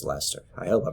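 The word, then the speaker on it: Leicester: of like people who told me it's pronounced lester i hope i pronounced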